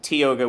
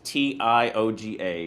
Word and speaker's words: Tioga: And then it's always Tioga, which is Tioga, because there is around Philadelphia, Tioga is the way it's pronounced.